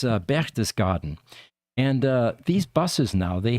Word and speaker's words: Berchtesgaden: It's Berchtesgaden.